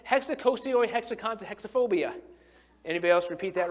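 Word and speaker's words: hexakosioihexekontahexaphobia: being scared of the number 666, and it's hexacosioi hexaconta hexaphobia.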